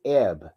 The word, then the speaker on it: Eb: And so the pronunciation for the spiritual name of the human archetype is Eb, E-B, right? It's E-H-B, Eb, right?